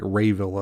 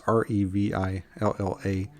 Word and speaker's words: Revilla: I'm assuming that's Revilla. It could be pronounced like Rayvilla or something, but it's Revilla.